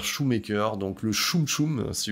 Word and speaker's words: Schumacher: Voilà, donc The Kief sera plus ou moins un acteur régulier de Joel Schumacher, que certains prononcent Joel Schumacher, donc moi j'ai décidé de dire Shoemaker, donc le Choum Choum, si vous voyez ce que je veux dire.